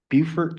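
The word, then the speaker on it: Beaufort: Um, and I got stationed in Bufort, South Carolina. And I have to say it like that because I spent six and a half years in Hawaii on a guided missile destroyer.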